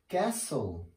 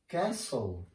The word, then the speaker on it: castle: pronunciation silent T so here in these words we don't pronounce the T letter let's see here the